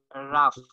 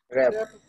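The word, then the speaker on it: wrap: যাবে, এরপরে আমরা দেখবো যে column, sorry flax, রাফ, sorry রাফ না, এটার উচ্চারণ হবে, এটার উচ্চারণ কি হতে পারে ভাইয়া, একটু ইংলিশে কাছে আছে আমি, র‍্যাপ, র‍্যাপ না, জি হ্যাঁ র‍্যাপ।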